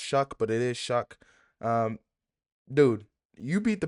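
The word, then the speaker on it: Shough: I don't know how that's pronounced Shuck, but it is Shuck.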